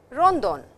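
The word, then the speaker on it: ロンドン: Pari which is Paris, Rondon which is London. The language does not have the sound L or the letter L. So, London becomes Rondon, Beijing and Singapore.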